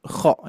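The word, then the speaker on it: خ: Makanya huruf kho itu harus betul-betul tetap lembut. Kho, kho gitu ya. Kalau saya dikarenakan bertalaki bersama Syekh Aisyah Al-Ma'sarawi bersama Syekh Syekh Hanofa Maulana juga, pengucapan huruf kho-nya seperti ini. Kho, kho, kho.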